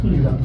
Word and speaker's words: Uzan: And watching, help me with the pronunciation, Uzan? Milos Uzan.